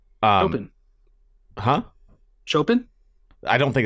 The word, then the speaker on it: Chopin: Eternal Sonata was a JRPG that was heavily based on music, specifically from Chopin, I think is how you pronounce his name. Chopin.